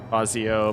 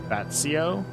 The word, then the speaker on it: Fazio: And if you pronounce the letters as they are, not Fazio but more like Batsio.